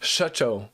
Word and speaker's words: Shutcho: Shutcho, like as in shut your mouth. That's what she means.